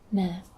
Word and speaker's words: ma: a neutral tone um so you pronounce this as Ma just really even you're not shifting your voice up or down just stays even and uh this means